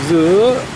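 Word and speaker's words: sữa: วี นา มิ ว เสือ จริง ต้อง ออก เสียง ซื้อ เสือ เนี่ย แปล ว่า นม นะ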